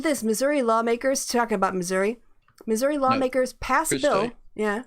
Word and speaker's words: Missouri: missouri lawmakers talking about missouri missouri lawmakers pass bill yeah say it properly no i pronounce the i that is pretty properly uh pass a bill